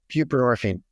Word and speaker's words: buprenorphine: buprenorphine.